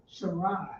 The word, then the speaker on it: Sarai: Sarai. So remember, That's how you pronounce it.